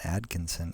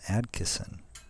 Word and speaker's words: Adkisson: i keep on uh i used to say with an n but then i realized oh it's not john atkinson it's john adkisson so anyways um it's